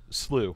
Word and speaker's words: Canyon Slough: Slew. It's actually pronounced Slew. Slew. Yeah, I didn't know that either until somebody told me.